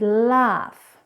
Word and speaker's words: laugh: But there are other words where this GH is actually an F sound, like in the word cough and laugh.